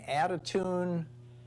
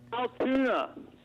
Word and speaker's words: Altoona: welcome back mike in attitude is it attitude in florida how all two in florida how do you say it altoona altoona oh okay hey what's